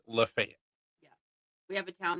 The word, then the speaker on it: Lafayette: We have what would be pronounced as Lafayette. and everybody calls it Lafayette.